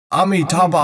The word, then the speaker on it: Amitabha: Then you listen with your ears crystal clearly, 4 syllables, Amitabha.